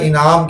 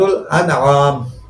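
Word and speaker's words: الأنعام: سے سورہ ہود تک، بعض لوگ اسے سورہ انعام کہتے ہیں جو کہ تلفظ غلط ہے، سورۃ الانعام، سورۃ الانعام سے سورہ ہود تک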